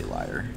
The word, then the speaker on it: Lier: you put leer in I say Leary you say liar yeah yeah I don't know the proper way hours well I think of it as like the car is the Cavalier so it's leer to me sure yeah a lot of